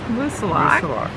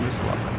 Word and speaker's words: Moosilauke: And by the way, we've been coached by a local that it is pronounced Moosilauke. We'll see how that goes over. Yeah. Hey, hike your own hike. That's right. If you Google it, it'll say it can be pronounced either way, Moosilauke or Moosilauke, but the locals pronounce it Moosilauke.